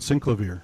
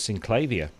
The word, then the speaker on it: Synclavier: Yeah, most of the net guys call it Synclavier. So No, well, Cameron says Synclavier. I call it Synclavier.